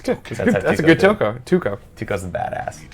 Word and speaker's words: Tuco: Isn't that weird that you hear someone say a word and you go to say it and you say it wrong? Tuco? Yeah, well, I just said that, but it's like I just heard you say Tuco. Why did my brain go Toko?